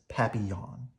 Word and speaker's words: Papillon: like our neighbor's dog you say it like this Papillon oh I said it wrong Papillon in French it means butterfly so the type of